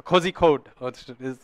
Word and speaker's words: Kozhikode: They may have of Calicut, a Kozhikode is the correct word, I think, or maybe not the correct pronunciation.